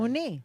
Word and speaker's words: Mooney: Mooney.